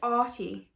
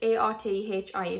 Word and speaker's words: Arthie: pronounce, I think it's Artie. Because it's Art, like A-R-T-H-I-E. So I think it's still Artie, not Arthie, but it could be Arthie. I'm not entirely sure.